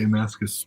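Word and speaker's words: Mascis: going to say J Mascus is name wrong I totally forgot how to say it but it is Mascus thank you uh next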